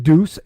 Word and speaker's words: Duss: mine after okay so so it's technically Duce uh everyone pronounce it the way it's spelled DUS the USS and it